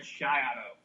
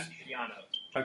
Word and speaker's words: Greg Schiano: Hey, it's actually pronounced Greg Schiano, not Schiano.